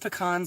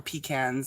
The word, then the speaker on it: pecans: and i was like is it pronounced pecans or pecans and actually it's both so however the you want to pronounce it is the right way to pronounce it it's definitely pecan in the south yeah yeah people will